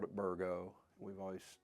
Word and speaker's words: Burgoo: um people will say burgu burgle that's what they always said was burgo we say bergo spelled with two o's but what I've always been told is the second o is silent down at our farm